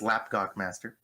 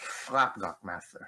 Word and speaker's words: Llapgochmaster: It depends if any Welsh people are listening. It's Llapgochmaster. Or it's Llapgochmaster.